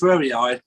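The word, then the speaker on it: forreri: It's Salvia, I think you pronounce it Frerii.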